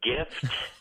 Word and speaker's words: GIF: It's like if you pronounce gift and you take off the T, wouldn't it be GIF?